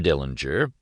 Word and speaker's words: Dillinger: Dillinger, he pronounced the name with a hard G in the German style, was an unemotional, somber